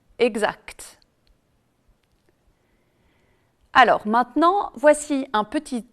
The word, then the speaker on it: exact: le elle est prononcée attention aussi aux mots aspect est distinct dans lesquels ni le sait ni le thé ne sont prononcés alors qu'on dit direct correct exact alors maintenant voici un